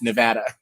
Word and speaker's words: Nevada: I I saw a bumper sticker that somebody posted today and it's uh it's not ne it's not Nevada, it's Nevada.